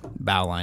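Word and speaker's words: bowline: up against against with me saying bow line instead of bowling yeah like it's made it's made to go off the bow of the ship like that's it's doesn't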